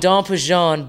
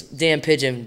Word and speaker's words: Damn Pigeon: It's called Don Pigeon, but you spell it like Dan Pigeon. So if you read it, it's Dan Pigeon, but pronunciation, Don Pigeon.